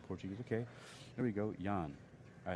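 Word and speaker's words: Jaan: okay or down Portuguese okay here we go Yan all right so here we go that's not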